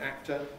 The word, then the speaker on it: actor: It's no great disaster if foreign learners of English say actor. It just sounds like a careful pronunciation. But what is important is that when we say actor, you hear the K there, because it is there.